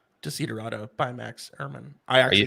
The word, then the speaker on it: Desiderata: Desiderata.